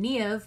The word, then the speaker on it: Niamh: I go by Kelly most recently because it's a little bit easier than trying to explain the spelling and pronunciation of my Gaelic name, Niamh, but Kelly or Niamh, whichever you prefer, is totally fine by me.